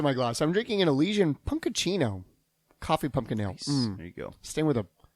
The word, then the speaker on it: Elysian: It rhymes with Felician.